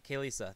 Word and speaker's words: Kalesa: No, Kalesa. There's definitely an A there.